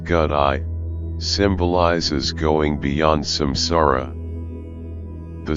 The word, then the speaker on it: gate: of suetta the first first gate pronounced godi symbolizes going Beyond samsara